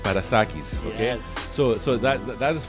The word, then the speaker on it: Parassakis: Now, Theo is Greek, so I'm going to say how it should pronounce in Greek is Parassakis, okay?